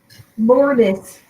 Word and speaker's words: Lourdes: Kiki, it's Miss Penny and me, Lourdes. Lourdes. Yeah, that's the English way. I figured that might be easier. Because if I say Lourdes, they're not going to be able to pronounce it.